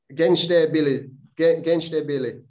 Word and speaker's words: Gençlerbirliği: You left St Mirren in 2010 and signed for Turkish side Gençlerbirliği. Is that how you say it? Gençlerbirliği.